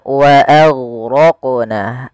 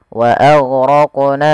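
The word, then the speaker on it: وَأَغْرَقْنَا: Kemudian pelafal wa aghraqna, a tipis, ghainnya tebal. Nah, ini juga huruf ghain sering terjadi, intabihu, hati-hati jangan sampai memantulkannya. Contoh wa aghraqna, wa aghraqna, ini memantulkan huruf ghain, padahal sifat huruf ghain itu tidak boleh mantul, tidak boleh mantul.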